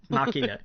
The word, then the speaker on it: Ex Machina: And I keep mispronouncing this, so you correct me if I'm wrong. Ex Machina? Machina.